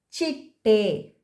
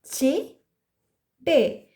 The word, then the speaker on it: ಚಿಟ್ಟೆ: Butterfly is chitte. Chitte. So here te is chitte. We are stressing te and pronouncing so sajati ottakshara t a.